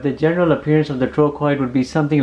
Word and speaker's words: trochoid: troid it's pronounced as troid with the CH having a k sound there's a specific Dimension